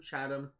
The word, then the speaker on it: Chatham: The only reason why I know that's pronounced Chatham is I used to live on a street called Chatham Court, and it was spelled the exact same way, so I'm assuming that's how it's pronounced.